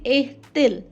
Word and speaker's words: est-il: A and il combined, it will be est-il.